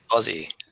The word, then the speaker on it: Aussie: that you told us the correct way to say Aussie so that failing is not yelling at us Ozzie Ozzie like Ozzy Osbourne yep go and if you